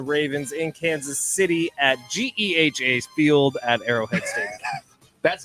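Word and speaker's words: GEHA: Chiefs and the Ravens in Kansas City at G field at Arrowhead Stadium that's how you say it that's how you say it we learned that yesterday not pronounce it Gaya no that is not how you say it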